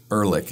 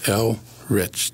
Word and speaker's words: Elrich: Elrich, two syllables. You know, nice natural break between the L and the R.